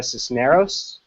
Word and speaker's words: Cisneros: Particularly, I'm thinking of correct me if I pronounce this incorrectly, Sandra Cisneros.